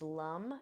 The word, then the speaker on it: Lam: So the seed sound for the root chakra is lum. It's spelled Lam.